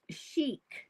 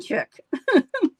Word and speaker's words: chic: Sharon says that it is pronounced chic, not chick.